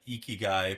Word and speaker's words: ikigai: Oh, you are saying it correctly. We could practice if you want. So, you're gonna say e e. You're gonna say key and then I'll say guy.